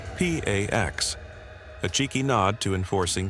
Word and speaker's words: P4X: He adopts a pseudonym P4X, pronounced P A X, a cheeky nod to enforcing peace through punishment.